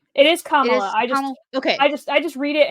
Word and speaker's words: Kamala: I'm gonna mispronounce it as Kamala, and I don't mean that in like I'm trying to be rude.